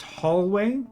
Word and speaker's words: Holloway: It's pronounced hallway.